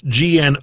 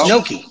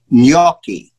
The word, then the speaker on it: gnocchi: you're italian it's pronounced gnocchi gnocchi it's like a silent g gnocchi okay yes what